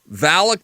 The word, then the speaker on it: Valak: it's Valic the defier how do you guys pronounce it Valic the defiler Valic the defiler okay yeah um it's actually that